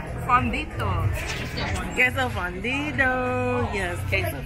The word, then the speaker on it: fundido: Queso fundido. Yes, queso fundido. You said it Americanized. You said it too Americanized the first time.